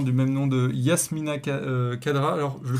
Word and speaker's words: Khadra: même nom de Yasmina Khadra. Alors je le prononce, Khadra, oui. ouais, je le prononce mal, j'arrive pas à faire c'est pas facile à faire le kha. Khadra.